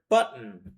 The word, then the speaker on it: button: There are two T's in the middle. Pronounce them.